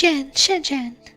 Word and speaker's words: Shenzhen: How do you say the ZH? Do you ignore that? No, you can't. CH is its own sound in Chinese. Okay, so it's Shenzhen. Shenzhen.